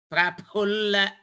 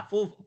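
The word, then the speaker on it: प्रफुल्ल: No, you are telling Pu ma, Pu for pulling. But what we want is Praphulla. Pu Mahaprana. Pu. You have to pronounce ip from the lips and hu from the throat.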